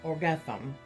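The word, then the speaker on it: Airgetlám: During this encounter, the Danann High King Nuada Argethlum, pronounced Nutha Orgethlum, lost his arm.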